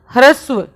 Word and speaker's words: ह्रस्व: पहला है ह्रस्व स्वर देखो इसका उच्चारण कैसे करते हैं ये हान होता है ना तो कोई हान ये ऐसे बना होता है ठीक है और इसके नीचे ये आर होता है ऐसे और इसमें हान जो होता है वह आधा होता है और आर जो होता है वह पूरा होता है इसलिए हम कैसे करते इसका उच्चारण hrasu समझ गए आप तो